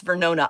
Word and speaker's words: Vernona: Let's see, you pronounced it right. She said it's Vernona.